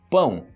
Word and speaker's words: pão: você fale roupão normal aí eu falo ou pão ou pão é esse pega só o finalzinho pão ou pão é isso